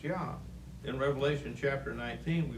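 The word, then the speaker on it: Iah: at it it's spelled i-a-h yeah okay it's pronounced yah in revelation chapter 19 we read the words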